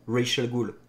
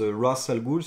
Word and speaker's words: Ra's al Ghul: Parce que c'est littéralement le nom Ra's al Ghul. Alors en arabe ça se prononce Ras al Ghul si je dis pas de bêtises.